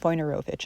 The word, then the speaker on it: Wojnarowicz: I consistently pronounce his name slightly funnily in this video. It's David Wojnarowicz, an American.